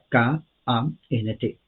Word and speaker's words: Kant: Uno es el filósofo Immanuel Kant, K-A-N-T, se pronuncia Kant, Immanuel Kant, en español Emmanuel, en inglés Immanuel.